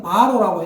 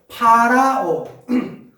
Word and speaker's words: 파라오: 성경에는 바로라고 했는데, 그건 우리나라 사람들이 발음이 짜쳐가지고, 바로라고 하는 거고, 파라오.